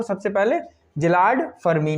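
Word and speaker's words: Szilard: बनाया था वो थे जिलार्ड फर्मी। एस साइलेंट रहता है, SZILLARD, एस साइलेंट आएगा, जिलार्ड फर्मी से याद रखना।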